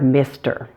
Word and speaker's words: Mr.: In terms of pronunciation, there are 2 things you want to watch out for with the word Mr. Now, the first one is that short I sound.